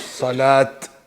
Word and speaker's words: صلاة: So round ta, it should be recited as salat. Yeah? With a t sound at the end.